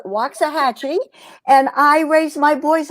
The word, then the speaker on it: Waxahachie: Well, it's not really mine, but I'm here temporarily, and it's Waxahachie, and I raise my boys on Cape Cod,